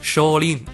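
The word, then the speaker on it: 少林: It's pronounced Shaolin in Japanese, but it's the same exact name.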